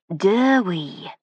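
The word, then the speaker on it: Dewi: How do you spell it? D E W I, I said. He looked blankly at me. But he calls himself Dwee, he said incredulously. How on earth? It's a Welsh name, sir, I said as I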